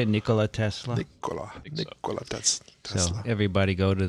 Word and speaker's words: Nikola: Nikola Tesla.